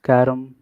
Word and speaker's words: carrom: Ah, right, It is pronounced carom, but it depends on the accent, of course.